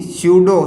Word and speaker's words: स्यूडो: जबकि अगर अपन इधर बात करें तो ये इन्हें अपन क्या बोलते हैं, आभासी, स्यूडो सॉलिड। आभासी को अपन क्या बोलते हैं, स्यूडो। पी साइलेंट रहेगा तो क्या हो जाएगा, स्यूडो सॉलिड।